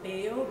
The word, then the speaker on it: Bello: Bello or Bello, but in my country, where I'm originally from, we pronounce it as Bello.